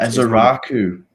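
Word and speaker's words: Ezeiruaku: Ezai-Ruaku.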